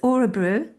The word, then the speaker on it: Örebro: Udebrow. It's about Or 40 kilometers from Stockholm. Am I right in saying that? yeah, it's Örebro, and I can we're never sort pronounce of it. Örebro.